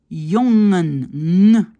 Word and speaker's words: jongen: Et le NG, c'est bang, jongen, sting. Moi, qu'est-ce que j'entends? Parfois un G à la fin. J'entends bang, sting. C'est pas sting, sting. C'est juste un son.